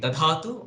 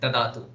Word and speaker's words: dhatu: we say dhatu so all of us should make sure to pronounce it as D if we say it changes the meaning so uh there is a subtle difference between dhatu and datu so when we say